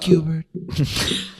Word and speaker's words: Schubert: It's pronounced Cubert.